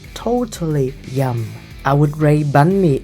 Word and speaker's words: bánh mì: The only downside, it's one of the most mispronounced Vietnamese words by foreigners. Bun me. Bun me. Bun me. And I don't like that they say bang me.